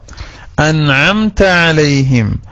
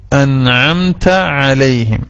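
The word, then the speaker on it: أَنْعَمْتَ عَلَيْهِمْ: അൻഅംത അലൈഹിം, അത് മാത്രല്ല ഒന്ന് പറഞ്ഞു നോക്കൂ. അൻഅംത അലൈഹിം, രണ്ട് ഐനുണ്ട് അല്ലെ. അവിടെ പലപ്പോഴും നമ്മൾ ബലം പിടിച്ചിട്ട് അ എന്ന് ഹംസ എങ്ങനെയാണോ പറയുന്നത് അത് ശിദ്ദത്തിന്റെ അക്ഷരാണ്. എന്നാൽ ഐന് തവസ്സുത്തല്ലേ.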